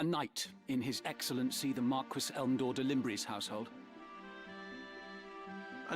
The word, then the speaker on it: Marquis: It's pronounced Marquis. That one you'll actually have to argue with a bit on. I want to say that's regional.